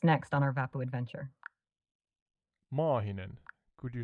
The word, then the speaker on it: Maahinen: I teach you to say a long A in Maahinen? Certainly. Please go ahead and teach me how to pronounce Mahinen with a long A. Yeah, Maahinen. Just extend the A part slightly, and it sounds better in Finnish.